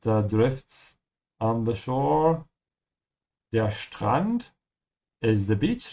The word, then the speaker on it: Strand: Der Strand is the beach. Remember to pronounce the ST like sh. Ja, Strand. And open your mouth on the A. And, not and. Ja, Strand.